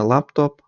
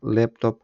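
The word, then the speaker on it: Laptop: звичайно неправильна вимова тобто з англійської мови як буде лепtп не лаптоп а лептоп Handy і так далі наступна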